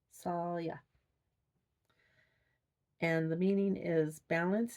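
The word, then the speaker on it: Saille: Okay, so it's associated with the willow tree, and it's pronounced Salya. Salya.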